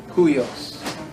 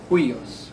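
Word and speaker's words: υἱός: The rough breathing mark is pronounced like the English H. It is pronounced like an H. Ha. Let me give you an example. The word, a famous one is the word huios.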